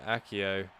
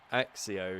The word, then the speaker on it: Accio: jinx is counted there probably heard me say accio but no no i'm actually saying it right now probably heard me say axio even this is just like god of fire